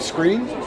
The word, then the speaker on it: Screen: And I was in a little village called Screen, Scrin. You tell me the pronunciation. Screen will be fine.